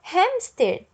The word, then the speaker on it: hamster: né da língua portuguesa por isso que nós fazemos a pronúncia do h certo então hamster eu